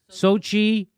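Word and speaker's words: Xochitl: Lucy McBeth of Georgia and Deb Haaland and Sochi Torres Small of New Mexico.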